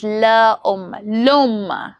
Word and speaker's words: l'homme: Elisions involve the omission of a vowel sound, typically e, before a word starting with a vowel or a silent ash, that is h, to maintain smooth pronunciation as seen in l'homme, that is l'homme, the man, l'école, the school.